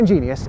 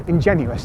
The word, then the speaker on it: ingenuous: Not ingenious, ingenuous, the opposite of disingenuous, which you probably don't